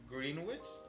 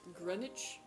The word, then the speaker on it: Greenwich: Um that's not pronounced green witch. I'm pretty sure it's Grenwich.